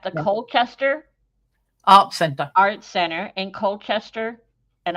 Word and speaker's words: Colchester: Colchester Art Center in Colchester, and I'm saying it correctly. I know you say it with the British way.